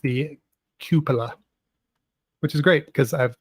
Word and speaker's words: cupola: Bill's pointing out that it's pronounced the cupola, which is great because I've pronounced it wrong for years.